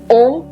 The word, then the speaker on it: ओम: का उच्चारण करना है ओम जो तीन शब्दों से मिलकर के बना होता है आ ओ और म जब अ का उच्चारण करेंगे तो मुंह को अच्छे से खोलिए लिप्स को ओपन कीजिएगा जब उ का उच्चारण करेंगे तो लिप्स को थोड़ा सा रोल जैसा कीजिएगा अब जब म के उच्चारण में आप पहुंचेंगे तो आप अपने होठों को बंद कर लीजिएगा अब अगर आपको इन